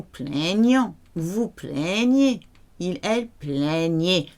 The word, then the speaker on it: plaignaient: Ils, elles plaignaient. The last one sounds like the first three. Your E and T is silent.